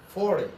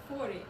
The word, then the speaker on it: forty: 40. Good job. And Yuliya, your turn. 40.